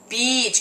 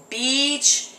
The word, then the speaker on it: beach: in Southern California and it's important that you pronounce it correctly so how do we say it Beach come on stretch it beach beach three more times beach beach beach good and